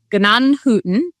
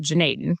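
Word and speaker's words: Gnadenhutten: But it's a little German pronunciation town, and the traditional pronunciation is Gnanhütten, but everybody around here just calls it Junaid because it's a little bit easier to pronounce.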